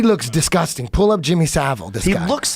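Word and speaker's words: Savile: Saville. Yeah. Yeah, Jimmy Saville.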